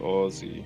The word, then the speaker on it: Aussie: you mean yeah like they say Aussie like Ozzy Osbourne but it's more like Ozzy like all yeah they say they're like all see yeah but I don't